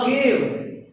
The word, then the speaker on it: Agave: Third लिखिए, बुलबिल ऑफ अगेव। बुलबिल, बुलबुल नहीं, बुलबिल।